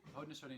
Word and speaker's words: Haudenosaunee: Haundenosaunee and Anishinabewaki peoples. How do you know how to say that? The Wendat, the Haundenosaunee.